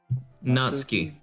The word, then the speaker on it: Natsuki: How do you pronounce her name again? Natsuki.